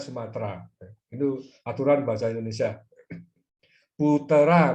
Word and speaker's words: Sumatera: Untuk menyesuaikan dengan bahasa Melayu, bahasa Indonesia adalah bahasa Melayu, tidak ada huruf T dan R yang nyambung, ya, harus diisi E di tengahnya, sehingga menulisnya adalah Sumatera, walaupun bacanya Sumatera.